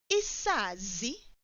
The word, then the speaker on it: isazi: Singular, isazi, isazi. Plural, izazi, izazi. Note how I pronounce that first Z or Z. Izazi. Did you hear that I pulled it?